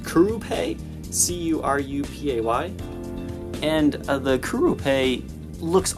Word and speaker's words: Curupay: And the fretboard is made of, I think it's pronounced Curupay, C-U-R-U-P-A-Y.